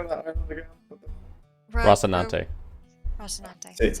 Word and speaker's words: Rocinante: Rocinante. See, That's how you see.